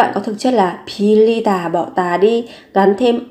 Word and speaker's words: 빌리다: Thì khi mà phát âm thì các bạn sẽ đọc giống như là âm l. Pilita, pilita.